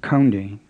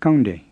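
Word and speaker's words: ကောင်းတယ်: It's not kaunde with an aspirated K like English, and it's not gaunde with an English G. It's kaunde with a plain K. Again, it may help to try imitating an exaggerated foreign accent. He caught a cow in King's Cross.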